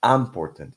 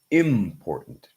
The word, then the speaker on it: important: a lot of people, a lot of students say important. It's not important, it's important. Okay. So important. Okay. As you can see here, important has a glottal stop.